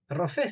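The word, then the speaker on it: רופא: tiene la consonante p sin el punto sin el dag adentro que se lee con fd rofe rofé significa doctor vale o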